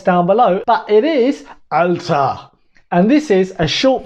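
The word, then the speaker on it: Alter: in the comments down below but it is alta and this is a short version of alta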